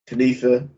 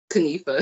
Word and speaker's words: Kinifha: And this is your special guest tonight, Kinifha. Oh, sorry, messed up your name. Kinifha.